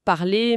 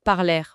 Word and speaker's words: parler: Euh les verbes en er à l'infinitif comme parler, manger, ils se prononcent et eux comme le participe passé parler manger. Pas parler ou mangèrent.